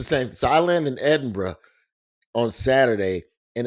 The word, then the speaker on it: Edinburgh: Bro, I land I land on Saturday in Edinburgh. Edinburgh, pardon me, cuz they That's how they say it.